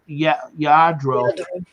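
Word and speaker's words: Lladró: Yeah, pronounced Yadro.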